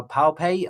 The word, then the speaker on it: Pape: Um I'm it makes me think of uh Professor uh Robert is it uh Pape? I'm not sure how to pronounce his surname. Pape, yeah.